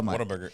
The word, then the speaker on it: Whataburger: for a minute yeah because they say Whataburger they say they say it like it's water yeah you want one